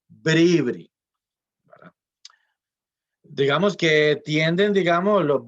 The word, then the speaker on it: bribrí: su casa pereira porque la gente tiende a ponerle el acento donde no es de bribrí no se dicen bribri se dice ver every digamos que tienden digamos